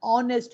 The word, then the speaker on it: honest: r h is silent honest man h is silent so we are not